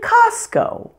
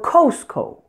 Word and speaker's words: Costco: be pronounced as ah like the names of these two stores Ross and Costco I've heard many non-native speakers say Rose or Costco you pronounce the O here just like you would in the words job or dog with an ah sound furthermore we automatically apply